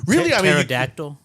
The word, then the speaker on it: pterodactyl: Uh along the lines of language like uh silent letters in in words. Yeah. Like pterodactyl. The English language. Yeah. Has got a P in it.